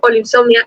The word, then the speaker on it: Olinsomnia: Y también, si lo pronuncias, sobre todo si lo pronuncias como lo pronuncio yo, Olinsomnia, es como Oli insomnia.